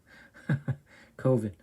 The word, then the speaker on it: coven: Coven, that's the proper pronunciation. No. Coven sounds like oven, man, and that's just, it doesn't work.